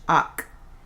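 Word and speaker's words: hac: Notice again the silent H, ac.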